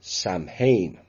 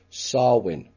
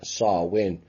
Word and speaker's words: Samhain: october the 31st all hallows eve halloween or samhain which is not exactly pronounced that way it's pronounced sarwin sexual and blood rituals and it involves sexual